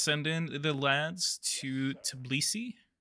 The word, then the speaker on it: Tbilisi: All right, let's send in the lads to Tbilisi. And yes, that's how you say it. It's Tbilisi.